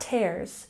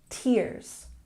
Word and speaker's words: tears: It's not tears, it's tears. Tears.